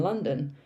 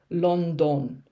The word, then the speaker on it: London: okay people always say london because of the spelling i understand london but actually this part here is the schwa sound uh london okay so